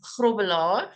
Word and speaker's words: Grobbelaar: so I'm and my surname is grobler if you're going to pronounce it correctly but um yes in